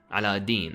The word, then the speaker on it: Aladdin: Ah yes, Aladdin. Well, Aladin as it's properly pronounced.